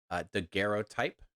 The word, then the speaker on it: daguerreotype: It is a yellowed, and I asked the internet earlier today, and I've already forgotten, but I'm pretty sure that's a hard G. Daguerreotype image.